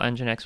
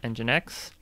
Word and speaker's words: nginx: care of the l e is nginx it's spelled with an n but they say e for engine and because it sounds like an e so let's go ahead and install nginx with dnf so dnf